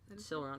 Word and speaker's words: Silron: Somehow, you remember the king of the land, Silron? Silron, yeah, that's how you say his name.